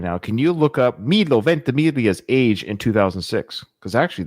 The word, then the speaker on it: Milo Ventimiglia: Milo Ventimiglia. I'm so proud I know how to pronounce his name. Milo Ventimiglia.